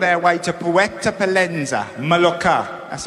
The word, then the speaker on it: Mallorca: A couple of years ago, we were on our way to Puerto Pollensa, Mallorca.